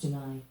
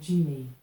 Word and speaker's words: July: July wasn't always pronounced July. 400 years ago, the stresses had a different flow, which meant that July was called Julie.